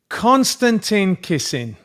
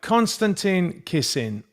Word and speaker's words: Konstantin Kisin: Konstantin Kisin. Right. Konstantin Kisin.